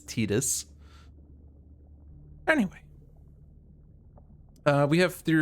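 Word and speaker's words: Tidus: it's not like all the Final Fantasy 10 people saying the name is Titus even though it's been officially stated that it's tetus anyway uh we have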